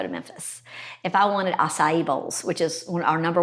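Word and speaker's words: açaí: go to memphis that's how you say it acai i've never known how to pronounce that yeah if you wanted all that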